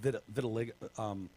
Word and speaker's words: vitiligo: I guess they have said he had vitiligo. But the one God, I always want to call it vitiligo. Maybe I'm saying it wrong. No, you're saying it right.